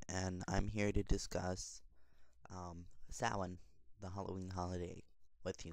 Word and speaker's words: Samhain: This is gypsywiccawytch, and I'm here to discuss Samhain, the Halloween holiday, with you guys.